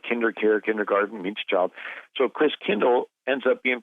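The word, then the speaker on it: Christkindl: the Christ child and the German pronunciation of Christ child is Chris Kindle Chris meaning Christ came to like KinderCare kindergarten each child so Chris Kindle ends up being pronounced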